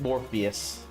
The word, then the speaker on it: Morpheus: No, the actual name is Morpheus. Like the the Matrix guy.